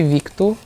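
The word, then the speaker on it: Vitor: pronounced it's it's pronounced well if you like pronounce my name the way it's spelled in Portuguese it's vku but my parents don't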